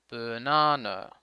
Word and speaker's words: banana: The word banana is a good example of the schwa. The first and last syllables have the schwa. Banana. Okay? Note that the stressed syllable na is longer than the other syllables.